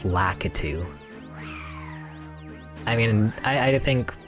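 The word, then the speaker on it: Lakitu: jerk, but like like for example, locku instead of lacatu.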